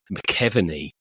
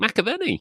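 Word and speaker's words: McAvennie: whatever, and it was this chap called McKeveny, which I kind of couldn't. And then it turned out that was Frank McAvenny, which is a much better way of pronouncing it, isn't it? It's quite obvious that it's McAvenny when you can see it.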